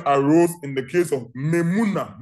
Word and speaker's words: Memuna: And this question arose in the case of Memuna Mudi. Memuna is spelled M-E-M-U-N-A.